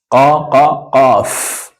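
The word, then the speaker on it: قاف: Qaf. Pronunciation is qaf. Also comes from in between your throat.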